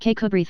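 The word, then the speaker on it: Kirkcudbright: armor, his name and style being the honorable Kirk Kubri Lonover Marjgery Banks sellers Vikcount Berkeley of Cole Mandelly Castle Warikshshire pronounced Kubrith Lanover Marshbanks sellers Vikcount Barkley of Chumly Castle Warikshire.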